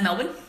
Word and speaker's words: Melbourne: You pronounce Melbourne, you pronounce Melbourne as Melbourne, okay? So Melbourne.